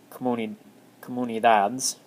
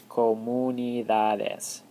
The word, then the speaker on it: comunidades: So in English, we'd pronounce this comunidades, but in Spanish, it's comunidades. Comunidades. You pronounce every letter.